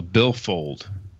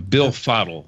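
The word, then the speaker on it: Billfodl: That's why you should get yourself a billfold, or a billfoddle, excuse me. Bill Fiddle? No, is that like spelled, a hodl? It's spelled BILFODL. And it is a metal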